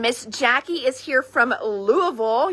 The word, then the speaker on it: Louisville: And Miss Jackie is here from Louisville. You got to say it like you have a mouthful of mashed potatoes, Louisville.